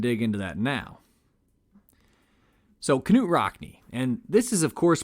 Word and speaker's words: Knute Rockne: So Knute Rockne, and this is of course pronounced with a hard K, not a soft one, by the way, was born in Voss, Norway on March 4th, 1888.